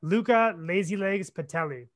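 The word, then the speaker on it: Luca Lazylegs Patuelli: So yeah, if you did want to check him out, because sometimes Brad's device doesn't have the best pronunciation, it's Luca Lazilegs Pedaly.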